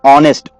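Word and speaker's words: honest: का दे रहा है तो एन ऑनेस्ट ओ ओ का साउंड दे रहा है तो एच यहां पर साइलेंट हो गया तो हम लोग इसको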